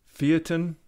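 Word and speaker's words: Feitian: have one here from I think they pronounce it theatin I pronounce it phyton sounds a lot cooler fighting this one's a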